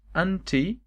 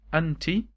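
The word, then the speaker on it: أنتِ: Is either you can say anta with the accent on the letter t, okay? So the accent like that is anta, and if the accent is below the letter is anti.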